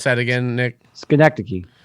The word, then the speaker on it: Schenectady: We can talk about it a little bit more if you want to, but that's how do we pronounce that again, Nick? Schenectady. Schenectady.